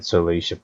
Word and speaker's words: Salacia: That's how you say it, Salacia Plains.